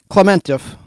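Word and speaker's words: Klementieff: like such a fool Palm spelled k-l-e-m-e-n-t-i-e-f Palm clementev I did research this and it says Clem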